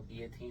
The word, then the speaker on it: guillotine: I was thinking about how Guillotine is spelled and pronounced nowhere near the same where in the do they get the two elves well that's because it